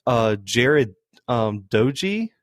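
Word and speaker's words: Doege: it's uh jared um doji is how you say it i thought it was dodge at first but it's an e um but has no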